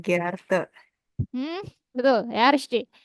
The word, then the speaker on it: Sehr geehrte: Kalau yang formalnya, Apa ya bacanya Gerarte? hmm, betul ya, richtig. Sehr geehrte ya.